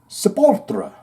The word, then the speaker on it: Sepultura: That's where you say the name in Brazil. Sepultura. I've had Brazilian fans say, thank you, Shane, for saying it that way, because that is indeed the proper way to say it.